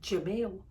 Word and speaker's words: Jeremiel: Jeremiel's like Jamil. Like Jeremiel might be how they pronounce it on YouTube, but he pronounces Jamil.